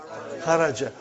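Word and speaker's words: خَرَجْ: Say it properly. Kharaj. With sukun. You won't say with. You will say kharaj.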